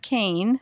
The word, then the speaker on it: Kean: go to my website which is surviving death cane my last name attached dot-com and on that